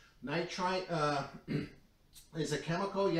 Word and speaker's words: nitrite: in a few of my other videos I pronounce it sodium nit nitrate and I correct myself it's sodium nitrite nitrite uh is a chemical you have to be